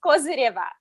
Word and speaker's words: Kozyreva: my show what's your name my surname is kosireva yeah yeah causing yeah yes so um